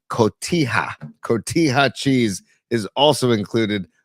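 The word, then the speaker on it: cotija: There's also one other ingredient which is a me Mexican cheese called Kotiah. Kotia cheese is also included on this in your spell it for me so I can jot it down.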